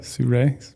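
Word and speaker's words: Sirui: Suru. My bad. I have the glassing girl. I got to pronounce it correctly.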